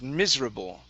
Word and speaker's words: miserable: work on the word miserable okay so stress at the very beginning give me a good r miserable miserable okay one